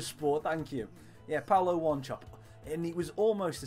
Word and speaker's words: Wanchope: Paulo Wanchope, or Wanchope, depending on how people wanted to pronounce it.